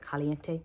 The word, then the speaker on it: caliente: and i have his caliente palette as caliente i'm sorry let me say it right caliente palette but i um